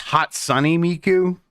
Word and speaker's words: Hatsune Miku: Okay, It's actually pronounced Hot Sunny Miku.